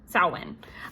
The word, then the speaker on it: Samhain: Then it will, and I love pronunciation, sow, like female pig, win. Samhain.